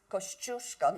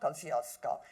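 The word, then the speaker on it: Kościuszko: looking at Mont kushka I tell the classes pronounced kusco not Kosco named after a Polish freedom fighter Miss Taylor that's not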